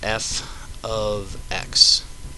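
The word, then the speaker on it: f(x): it okay now this thing is read as f of x okay and still equals X+ 7 okay so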